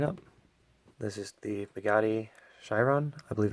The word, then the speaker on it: Chiron: be opening it up this is the Bugatti Chiron I believe it's pronounced you can pick these up at Sam's